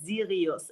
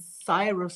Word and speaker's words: Sirius: Like, you know, my company in Germany, I call it Sirius. And I thought it's the same in English, like Sirius, the brightest star in the universe. Dang. But you guys pronounce it Cyrus or something. Yeah, that's a USA way.